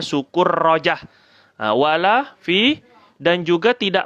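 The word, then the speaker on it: سكرجة: meja wala Fi sukurujah di sini bacanya Sukur rojah wala Fi dan juga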